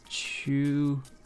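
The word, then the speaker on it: 中国: And the way you pronounce it when it's like this is Chugoku.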